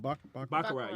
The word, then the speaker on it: baccarat: Baccarat, yeah.